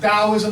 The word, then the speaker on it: Taoism: So it actually is pronounced Taoism with a D.